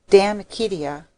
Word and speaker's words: De Amicitia: We've finished Livy and De Senectute, and now engaged with De Amicitia, pronounced Damicitia.